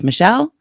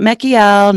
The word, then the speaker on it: Mechiel: funny and it's m-e-c-h-i-e-l that's michelle not mackiel not michael it's michelle and k-o-p-a-s-k-a another